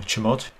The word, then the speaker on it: chmod: the CH monitor command or chamod which is how it seems to be pronounced new place is equivalent